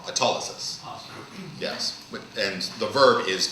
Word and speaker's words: autolysis: Autolysis.